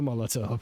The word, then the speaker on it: Molotov: Mr. Molotov, that's how you pronounce it, who was one of the architects of the Molotov-Ribbentrop Pact on the eve of World War II.